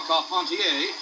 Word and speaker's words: Carpentier: jack dempsey advancing on george carpentier or caught pontier if you prefer the french pronunciation this was the first